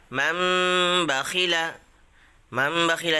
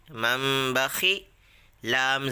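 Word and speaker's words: مَنْ بَخِلَ: तनवीन या नून साकिन के बाद बा आए तो नून को मीम से बदल कर गुन्ना और इक्फ़ा के साथ पढ़ेंगे। इसको इक़लाब कहते हैं। हिज्जे मसलन मम बखीला हिज्जे करने का तरीका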